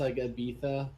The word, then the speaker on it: Ibiza: not mistaken three months that's why it's pronounced I got betta because they don't say Z's yeah it's like in Spain so he went there